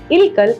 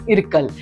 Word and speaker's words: Ilkal: Ilkal is the right pronunciation and the right spelling of this word.